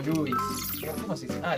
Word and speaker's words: Levi's: O Lewis. ¿Cómo se dice? Ah, Levi's.